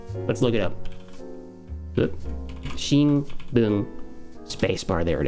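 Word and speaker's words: 新: it by itself uh which is usually pronounced shin and it's using a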